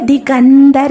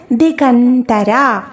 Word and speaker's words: ദികന്തര: അതേ ലൈനിലുള്ള അക്ഷരമാണ് പറയുന്നത് ദിഗന്തര എന്നാണ് നമ്മൾ വായിക്കുണ്ടാവ അപ്പന താക്കിയിട്ട് ദികന്തര കർപ്പൂരവീട്ടികാമോദ സമാകർഷ ദികന്തര ദ എന്നുള്ളത് ത എന്ന ഉച്ചാരണമായിട്ട് ഉച്ചരിക്കുക ദികന്തര ഇനി അടുത്ത അക്ഷരം പതിനാലാമത്തെ